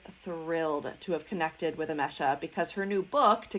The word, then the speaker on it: Emese: It is Emese.